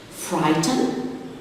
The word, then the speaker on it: frighten: Frighten, the silent letter is the GH before the T.